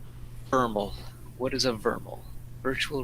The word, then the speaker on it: VRML: Vermal. What is a vermal? Virtual reality modeling language. Pronounced vermal, or by its initials.